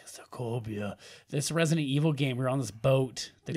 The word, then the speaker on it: Sokovia: Sokovo? Sokovia. Sokovia. I'm glad that you're making an effort really to pronounce this right. sounds like Sokovia.